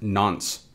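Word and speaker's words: nonce: on from that we have this n nce pronounced nons so what is the nons a nons is a unique number that is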